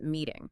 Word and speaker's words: meeting: So instead, when a T is trapped between two vowel sounds, the tongue just lightly taps the roof of the mouth. It softens into something that sounds almost like a quick D.